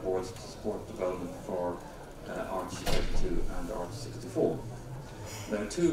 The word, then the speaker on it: AArch32: So I think we should call it Arch, as in aardvark, to get around Mark's pronunciation problems. So what is Arch32?